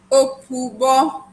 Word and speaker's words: Opubo: How do you pronounce it? Opubo. So it's Opubo.